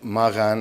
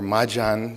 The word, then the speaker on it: Magan: The study of Indus civilization and Magan or Majan, depending on how you pronounce it, is something that has